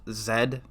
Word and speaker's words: Z: good letter although I think the game is pronounced Zed I don't know why it's pronounced as ed